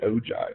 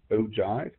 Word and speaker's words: ogive: frequency table looks like it's also called an o Jive sometimes it's it looks like o give but it's pronounced ogive and this would be the ogive for the